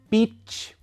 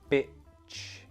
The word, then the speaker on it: beach: However, if you use your tongue to stop the sound by hitting the back of your teeth, just there to stop the sound, bitch, bitch, then it will always sound like bitch, even if you use the long E sound. Beach, beach, because my tongue is hitting here, changes the sound, makes this sound like this.